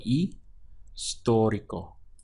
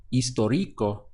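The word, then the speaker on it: histórico: historic historic Oh remember we ignore the H in the pronunciation and we would start from here on the I which always sounds like an e in Spanish so II story Co historical and also this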